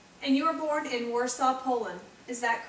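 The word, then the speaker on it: Warszawa: you were born in warsaw poland is that correct well it was actually pronounced by shabba poland and an interesting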